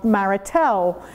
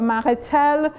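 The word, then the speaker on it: Marestel: de Savoie Cru of Maritel. There is an S in the middle, but they don't pronounce it Maritel, which is above Jonjieu, which is above the Rhône Valley.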